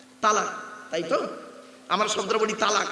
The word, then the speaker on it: তলাক: একত্রিত হওয়া জমা হওয়া আমরা তলাক না বলে সব তালাক বলি হয়েছে চলুন এই কোরআনে